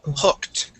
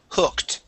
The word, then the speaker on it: hooked: a t sound but the oo here makes instead of a u sound it's a uh instead of an O It's a uh so H hooked hooked okay H H hooked hooked there that's it